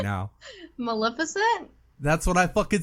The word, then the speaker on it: Maleficent: Like, just Malnificent for your health.